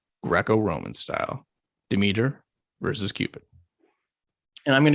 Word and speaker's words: Demeter: God, episode 2 of season 1, Greco-Roman style, Demeter versus Cupid. And I'm going to go first. And I chose, or fate chose for me, Demeter. Of course, I've been saying Demeter my whole life, which maybe is not going